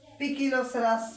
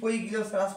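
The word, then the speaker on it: Poecilocerus: তো আমরা যে গাছপালা নিয়ে পড়বো এখানে যে প্রজাতির এই 20টার মধ্যে একটা নিয়ে আমরা পড়বো, ওটার নাম হচ্ছে পিকিলোসেরাস পিকটাস। যদিও ভুলে গেলি পইগিলোসেরাস পড়ছো তাহলে কিন্তু বুঝবো যে বরিশালের ডাক্তার তোমরা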